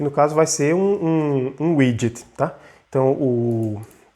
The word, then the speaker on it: widget: layout, vai ser um widget, tá? Então se escreve assim, né? W-I-D-G-E-T, e se fala widget.